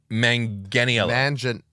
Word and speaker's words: Manganiello: I thought the G was soft. Manganiello. Soft G, not a hard G.